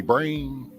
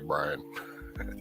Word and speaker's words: Brian: knows i'm and most people misspell it and call me brain oh it's with do you say i or why yeah it's with an eye so i'm usually brain but it's actually brian i don't know how